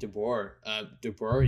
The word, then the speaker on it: DeBoer: But I've been hearing it's a problem with Pete DeBoer.